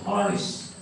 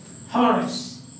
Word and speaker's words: Horace: the horse this is how the pronunciation the pronunciation is given like Horace Horace so the quiet forest he rots olds or